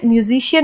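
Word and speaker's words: musician: इसे ओशन पढ़ा, और यहाँ पे म्यूजिशियन में सी के बाद आई आया है तो हम इसे पढ़ते हैं म्यूजिशियन।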